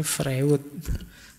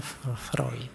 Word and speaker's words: Freud: dengan psikoanalisis nya y tulisannya Freud bacanya freid Awas keliru cara bacanya